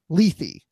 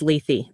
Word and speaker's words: Lethe: to talk about Star Trek discovery episode six leafy did I pronounce that correctly you absolutely did because I